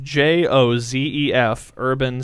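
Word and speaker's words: Józef Urban: out in marathon so it's actually the name is Joseph Jo Zef urban spelled like the word urban I think we posted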